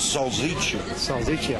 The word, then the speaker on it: salsiccia: The correct pronunciation is salsiccia.